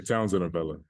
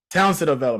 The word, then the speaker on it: Townsend-Avella: Townsend. Did I say it right? Yeah, Townsend-Avella. Townsend-Avella, my bad.